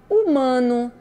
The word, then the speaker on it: humano: Hospital homem horário hora humano Helena harmonia e Ena herança Hotel helicóptero hélice herdeiro e Harpa todo de todas essas palavrinhas a gente não escutou nenhum sonzinho no H escuta só o som